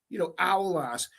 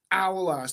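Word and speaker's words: aulass: actually Googled this, and apparently it's spelled A-U-L-ass, Owlass. That's how you pronounce it in Liverpool. That is how it's Owlass. That is how it's pronounced in Liverpool.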